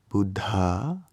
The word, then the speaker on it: Buddha: Buddhist doing Budd here you have a DH sound in Buddha so you want to make that h sound after the first bud bud anyway Sanskrit pronunciation